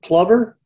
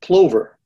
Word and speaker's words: plover: One birding website conducted a poll asking which pronunciation is preferred. 54% picked plover, and the other 46% picked plover. So it sounds like that debate is far from over.